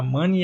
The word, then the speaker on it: Mané: pela lesão do Mané, que eu até pesquisei a pronúncia, é Felipe Mané. Eu não vou falar Felipe Mané, eu vou falar Mané e eu quero que se dane, porque falar Money é muito esquisito, lembra dinheiro, né, Money, mas vou falar